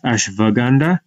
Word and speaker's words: ashwagandha: a connection here so ashwagandha ashwagandha ashwagandha now the w could also be pronounced as a v so if you're working with patients of indian descent you might want to pronounce it as ashwagandha or else they might